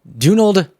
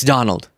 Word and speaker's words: Donald: name anyways oh okay so uh dunal Trump it's Donald oh so you're upset